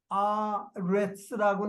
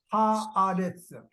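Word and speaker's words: הארץ: 여기에 지금 제일 끝에 하아레츠라고 나오는 거 보시죠? 끝에 단어 예, 하아레츠. 그 알레프 밑에 아 발음 밑에 짝대기가 하나 붙어 있죠. 네. 예, 예, 짝대기가 하나 붙죠. 거기에 그걸 액센트를 걸어주라는 게 그걸 갖다 실룩이라고 그래요.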